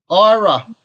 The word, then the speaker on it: IRa: How do you pronounce the IRA? IRA. Oh, I so actually, IRA.